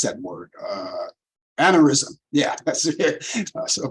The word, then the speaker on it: aneurysm: Now, this actor was hospitalized after suffering a brain he suffered a brain, how do you pronounce that word? Aneurysm.